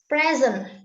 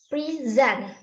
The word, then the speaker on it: present: makes changes in meaning for example is present is it noun and we have stress in first syllable and the meaning is a thing given to someone as a gift and the stress in syllable 2 is present is it wrong and the meaning is a student attend in class okay next what is